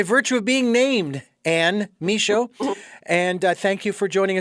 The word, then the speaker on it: Michaud: And Ann, your last name is pronounced uh Mod. Is that correct? Um nope. No. Please pronounce that for me. The D is silent. It's Misho.